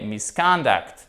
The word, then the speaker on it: misconduct: Et là, ce qui est très intéressant, c'est bien évidemment toujours la place de notre accent tonique, chers amis. Ok? Ce n'est pas misconduct, mais misconduct.